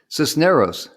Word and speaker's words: Sisneros: Sisneros. Jim got it right. Nailed it. Got it. Cisneros.